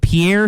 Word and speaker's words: Pierre: like so is it pierre south dakota i always switch it yeah the p pier is the capital that's how they pronounce it up there pier here and that's that's